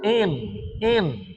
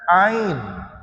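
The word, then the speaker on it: عين: dan di Huruf apa Huruf Ain ada juga yang kata huruf N N bukan Ain bukan in ya air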